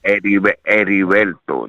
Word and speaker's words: Ediberto: I'm not good at saying the first name because I'm terrible with Spanish. Ediberto. That's how you say it.